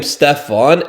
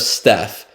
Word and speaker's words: Steph: Nike executives reportedly mispronounced his name, calling him Stefon instead of Steph.